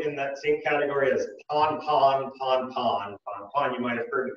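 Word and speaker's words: pan-pan: It's also in that same category as pon-pon. You might have heard the Coast Guard say that on the radio. Pon-pon is also spelled P-A-N. So it's just the way that they pronounce it.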